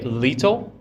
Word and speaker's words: little: Little. Little. Little. It's almost like L-I-D. Oh, yeah. Instead of a T, Okay. we pronounce those T's as a D sound.